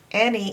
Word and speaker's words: any: Any in this case is a Y. The Y is making its E sound in any.